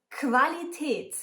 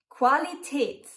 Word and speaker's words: Qualität: You pronounce it like a K and a W.